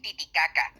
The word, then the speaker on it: Titicaca: The correct pronunciation is Lake Titicaca, but that's if we take Spanish into account.